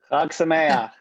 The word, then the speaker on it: Chag Sameach: Chag Sameach.